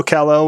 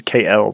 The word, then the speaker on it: Kale: That seems a very weird way to say when we've called him Kale for years now, that they're going to suddenly say his name is KL, but a Dark Kale.